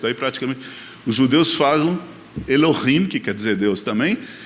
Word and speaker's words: Elohim: Os judeus falam Elohim, que quer dizer Deus também. Esse meu amigo falava Eloquim de propósito errado.